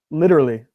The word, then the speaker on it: literally: Oh, the literally. Literally. So the difference that I hear is that when you say it, it's literally. You have 3 syllables. Literally. Yeah. When I say it, it's 4.